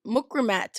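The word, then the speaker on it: Mukrimah: It has been a funny one because, okay, granted, I was born MUKRIMAT, right? MUKRIMAT is a Arabic name. If properly pronounced, it would be MUKRIMA, right?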